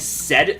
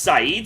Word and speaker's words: Saeed: Just want to say real quick, I've been saying said the whole time because that's how it looks from an English word, but apparently it's pronounced Saeed, so do correct me